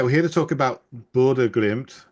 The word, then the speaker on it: Bodø/Glimt: Oh, you're very close.